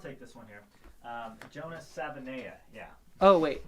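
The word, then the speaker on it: Savaiinaea: Sort of the same deal with Jonah Savilnea. Is that how you pronounce his name? I'll take this one here. Jonah Savinea, yeah. Oh, wait. Yeah, there's no L. I think it's Savinea.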